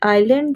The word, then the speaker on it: island: Me tell you that आइलैंड जो शब्द है, सबसे पहले तो इसमें एस साइलेंट होता है, इसलिए इसको आइलैंड हम बोलते हैं।